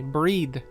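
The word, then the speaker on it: Bríd: a famous irish saint it's pronounced with a long e excuse me breed uh similar to the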